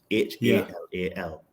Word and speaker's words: halal: permitted is called halal, H-A-L-A-L. Now, in Babylon, the pronunciation and the spelling is the same. Sorry, the pronunciation is halal, but it's spelled Hellel, H-E-L-E-L.